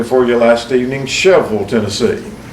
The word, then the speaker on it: Shelbyville: for you last evening sheville Tennessee you would pronounce that here Shelbyville but we pronounce it sheville Tennessee it is known and